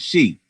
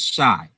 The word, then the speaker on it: Chi: And then he pronounced it she. And I was like, nah, it's not pronounced she, it's shy.